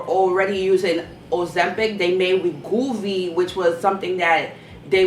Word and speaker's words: Wegovy: Number 3, there's another drug called Wegovy, and you spell that drug W-E-G-O-V. W-E-G-O-V-Y.